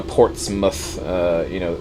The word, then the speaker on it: Portsmouth: Anything with mouth in an English town is pronounced muth. Really? So Portsmouth, that's how it.